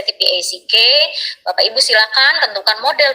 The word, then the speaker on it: TPACK: Lanjut, strategi pembelajaran tadi ya masih sama Bapak Ibu, masih berhubungan dengan TPACK atau TPEC ya, kalau kita mah bacanya TPEC atau bahasa Inggrisnya TPACK.